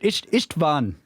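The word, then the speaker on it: István: s in rush and the a is like a in car a quick hungarian lesson but i don't mind you butchering my name ha-ha-ha-ha-ha so i try not to butcher it ichtban i think is how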